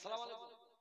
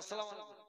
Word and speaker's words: আসসালামু আলাইকুম: ওর দাদি ওর নানি শিখিয়েছে একটা লোক থাকলে সালাম আলাইকুম, আর চারটা থাকলে আসসালামু আলাইকুম। না মুসলমান, সালাম আলাইকুম সালামই নাই। সালামের শব্দ উচ্চারণ হবে আসসালামু আলাইকুম।